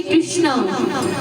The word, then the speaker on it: कृष्ण: बंधुओं, कई लोगों को मैंने बोलते सुना, वे पुकारते हैं जय श्री कृष्णा। कृष्णा नहीं, कृष्ण। कृष्णा जो है वो द्रौपदी जी है।